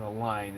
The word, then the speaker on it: align: And if you look at the word align, the G is silent in align.